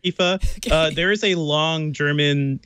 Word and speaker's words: IFA: what Aoife is and whether or not you should ever pronounce at IFA I don't know if you should pronounce it I say I've only heard Eva there is a long